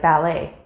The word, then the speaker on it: ballet: silent letters such as the letter t at the end of words like ballet however these patterns give